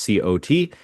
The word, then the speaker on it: cot: But there's like a kind of temporary bed that you sleep on. That's pronounced c o t. That's cot.